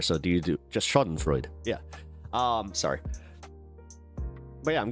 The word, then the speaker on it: Schadenfreude: I have to just do the Webster's dictionary pronunciation. Schadenfreude.